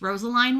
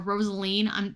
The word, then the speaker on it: Rosaline: Same with this one, this Rosaline one, or Rosaline. You can pronounce it either way, I imagine.